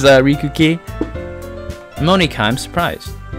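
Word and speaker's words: Monika: It's Mon, like Pokemon, and Ika, Monica.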